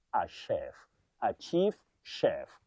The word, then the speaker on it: chef: Chief or chief chef. That word is not chief. It's from French. You say chef. A chef. A chief chef.